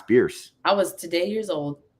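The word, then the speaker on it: Bearss: Downs about beer Avenue it's not pronounced bears like and I was like oh Bears no it's beer I was today years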